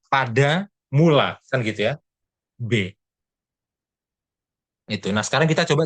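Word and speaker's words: בְּ: Ini bacanya adalah B. Dia dibaca sebagai vokal E. Ya, karena dia ada di awal kata, awal suku kata.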